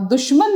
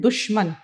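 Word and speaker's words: دشمن: जरूर आना चाहिए और दुश्मन लब्ज होता है दुश्मन नहीं होता बाज लोग उसका उच्चारण बहुत गलत करते हैं दुश्मन दुश्मन देखिए दोस्त और फिर दुश्मन दाल शीन पेश दुश मी नून जबर मन दुश्मन फिर से लिख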